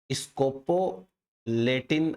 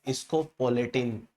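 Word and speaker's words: scopoletin: इसको या तो स्कोपोलेटिन आप प्रोनाउंस कर सकते हैं या स्कोपोलेटिन।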